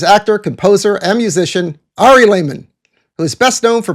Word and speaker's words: Lehman: Ari Lehman rhymes with demon, and I'm very happy to be unmasked.